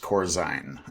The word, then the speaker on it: Corzine: I his dad our our last name is pronounced Corzine and uh that's a pet peeve of his